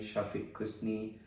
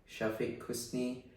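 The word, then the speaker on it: Syafiq Kusni: description here obviously mine is just my name Shafi Kus uh it's a bit of hard one but I just spell it out for the audience okay all right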